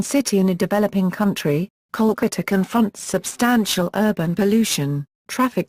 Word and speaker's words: Kolkata: Bengali click I tour while the city's name has always been pronounced Kolkata Bengali kokuto or kala